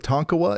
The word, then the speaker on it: Tonkawa: Well, did Yalbot just say it right with Tonkawa? Is that right? Sweet. Yeah, all right, sweet. Well, that works then.